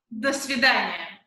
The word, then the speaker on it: до свидания: How do you say goodbye in Russian? We say it, до свидания.